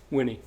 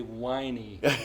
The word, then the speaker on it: Winney: say your last name winnie like winning winning some people say whiny that's what i was